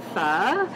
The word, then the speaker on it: pho: to campus is the pho noodle soup and so that's how you say it with a little bit of a lift on the end and it's a gluten-free